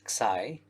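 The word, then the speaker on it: ξ: And so this is a Greek letter which we pronounce as xi, and xi b means the pose of coordinate frame b with respect to this coordinate frame.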